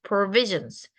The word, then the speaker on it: provisions: overseer의 v, provision의 v, harvest의 v 꼭 지켜주세요.